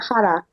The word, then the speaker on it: Aokigahara: I'm not sure how to pronounce the name of the EP. It's Oh, we can calculate. Aokigahara. Okay. Yeah, this is Aoki Gohara, and this is spin-off to existing songs that